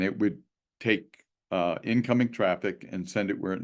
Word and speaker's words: Traefik: R A fi K and apparently traffic is the correct the correct way to say it I think according to